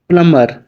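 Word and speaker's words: plumber: प्लम्बर, यहाँ पे भी साइलेंट, नलसाज।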